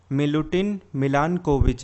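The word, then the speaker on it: Milutin Milanković: ये बात बोली थी मिलुटिन मिलानकोविच ने, यही इनका प्रोनाउंसिएशन है।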